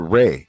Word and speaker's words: Ra: in the Coptic, yes, you'll probably be pronounced Ray indeed, but according to the transliteration of the Medu Neter, it will be Ra.